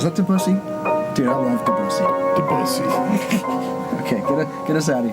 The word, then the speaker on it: Debussy: The elephant is completely enraptured by the Debussy, or however you say his name. Debussy. That's how we're going to say it.